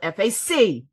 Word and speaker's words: faculty: Faculty is spelled F-A-C-U-L-T-Y. Okay. Fac, not foul. Fac. If you could say falcon, you can say faculty.